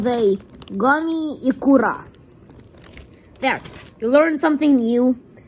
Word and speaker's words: Ikura: I am Japanese and I pronounce them all correctly. And the last ones, these ones, crunchy, are called the Gummy Ikura.